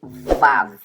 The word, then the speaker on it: Vav: O Vav, ele é um W com som de V. Então você vai ler Vav, tá?